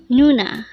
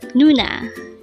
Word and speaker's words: 누나: NOONA. NOONA. This is pronounced as a two-syllable word. The first syllable is nu, second syllable is na. Pronounce it with me. NOONA.